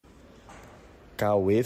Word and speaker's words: Cauê: Cauê Fernandes.